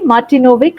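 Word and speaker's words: Martinović: smelt your name wrongly martinovic right that's right don't worry open failure culture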